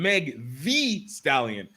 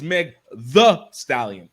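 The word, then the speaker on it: Meg Thee Stallion: because they kept saying meg v stallion and it's not meg v stallion it's meg the stallion t-h-o it was driving me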